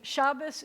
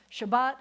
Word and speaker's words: Shabbat: I got it so Shabbos is Ashkenazic and Shabbat is Sephardic and you'll notice that